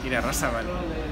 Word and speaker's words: Irarrázaval: Irarrázaval.